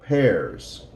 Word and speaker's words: pears: mushrooms they don't like pears in this word the a is silent and Mullah okay let's